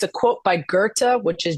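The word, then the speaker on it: Goethe: because people will say it's a quote by Gerta which is g e t h but it's pronounced Gerta or else it's from some dude that climbed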